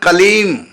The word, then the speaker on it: क्लीं: देखो, कलीम का उच्चारण कलीम, बस कलीम, लास्ट में मां हलंत, मतलब होठ बंद ही रहे, खोले ना, कलीम। और यदि हम बोल दिया कलीम, ये अशुद्ध हो गया, क्योंकि हमने होठ खोल दिए।